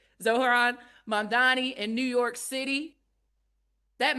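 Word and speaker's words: Mamdani: M A M D A N I. You should learn how to say it, right? Zoharan Mandani in New York City.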